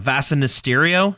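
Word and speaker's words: Vasa Nistirio: Was it Vasa Mysterio? Is that how you pronounce it?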